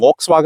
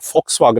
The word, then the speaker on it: Volkswagen: നാട്ടിൽ പല ആൾക്കാരും ഇത് വി കൊണ്ട് സ്റ്റാർട്ട് ചെയ്യുന്നതാണ് വോക്സ്വാഗൻ എന്ന് പറയാറുണ്ട്. പക്ഷെ ബേസിക്കലി വി എന്ന് പറയുന്ന ഇംഗ്ലീഷ് ലെറ്റർ നമ്മൾ ജർമ്മനിലാകുമ്പോൾ ഫൗ എന്നാണ് ഉച്ചരിക്കുന്നത്. അതുകൊണ്ട് ഇതിന്റെ യഥാർത്ഥത്തിൽ ഉച്ചാരണ ഫോക്സ്വാഗൻ എന്നാണ്. എന്താണ് ഫോക്സ്, കുറുക്കൻ എന്നുള്ള F, ആ സൗണ്ടാണ് ഇതിൽ ആക്ച്വലി വരേണ്ടത്.